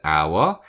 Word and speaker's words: hour: For example, in the word hour, H is silent.